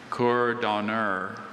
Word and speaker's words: cour d'honneur: Cour d'honneur.